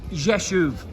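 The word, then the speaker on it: Rzeszów: thing here really is how do you say jeshev and it's pronounced yeshuv so on the right side we can see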